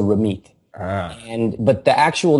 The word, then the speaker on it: Ramit: First of all, in Punjabi, the way it's written, it's TH, so Ramit.